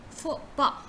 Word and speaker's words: faux pas: You say faux pas, instead of saying fox, pass or something like that, you say faux. So you say faux pas, right?